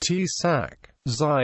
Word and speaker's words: Achakzai: Achakzai, pronounced sak.Zai in Pashto, is a Pashtun tribe basically that resides on both sides of current Pak-Afghan border.